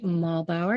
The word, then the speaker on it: Muehlbauer: I am sitting here today with Jesse Muehlbauer.